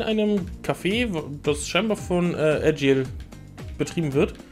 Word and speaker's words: Agil: Café, das scheinbar von Agile betrieben wird. Oder Agile, ich glaube, er wird Agile ausgesprochen.